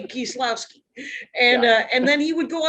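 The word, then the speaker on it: Kieślowski: Kieslowski is what I say. Kieslowski. Again, yeah. But Kieslowski would be how he would say it if he lived in Wisconsin in the 70s. He'd say Kieslowski.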